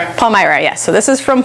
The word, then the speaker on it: Palmyra: Palmyra, yes.